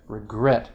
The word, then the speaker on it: regret: really inconsistent right because you've got regret stress on the last syllable right but egret a bird it's a bird egret they're not consistent but